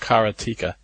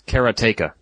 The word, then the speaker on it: Karateka: I always actually thought it was pronounced Karateka. According to Jordan Mechner, it's Karateka.